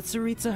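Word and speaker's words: Tsaritsa: be entitled to a generous reward from the saritsa herself oh so that's how you say it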